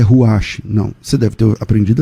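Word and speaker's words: רוח: Mas qual é a pronúncia correta? A pronúncia correta é Ruach, e não Ruach. Olha a diferença.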